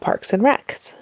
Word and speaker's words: Parks and Rec: But somebody asked him a question about Parks and Recs and what his favorite Parks and Recreation. You can say Parks and Rec, not Parks and Recs.